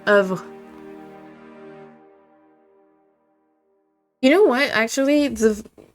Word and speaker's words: eau: was really funny that the word for water is o and it's e a u but it it's it's just o.